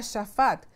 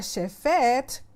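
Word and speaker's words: שפט: Y aquí tengo un ejemplo de la palabra shafat. La palabra shafat consiste de una shin, de una fei y de una tet. Significa juzgar o gobernar, como un verbo. Cuando se pronuncia shefet, significa juicio.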